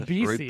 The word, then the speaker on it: Ribisi: Hey, Yeah, Is he it- is I He's said Ribisi, isn't he? Not alright, my Ribsy.